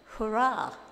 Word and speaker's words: HRRA: And HRRA is pronounced hurrah. Yay.